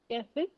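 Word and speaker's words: café: If you put the slanting line on the E, this sounds like A ki matra in Hindi, A. And that's exception number 1, where we do pronounce the last letter.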